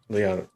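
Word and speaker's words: Leane: Liana.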